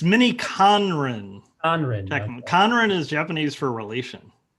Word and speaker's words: miniKanren: it today which i i know i never pronounced the name right so it's mini conran conrad is japanese for relation oh oh nice okay i didn't know that it's not minnie karen everyone says minnie karen it's minnie conron yeah